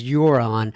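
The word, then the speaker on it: Huron: small town off Lake euron you're you're in how do you pronounce h-u-r-o-n and I think it's you're on uh in Ontario Canada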